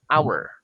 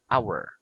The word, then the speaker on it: hour: Remember, some words that begins with the letter H starts with a vowel sound because the letter H is silent. For example, in the word hour, so it starts with a vowel sound, hour.